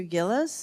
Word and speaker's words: Gillis: I'd like to ask is it Professor Gillis is that how your name is pronounced yes yes it is okay so isn't it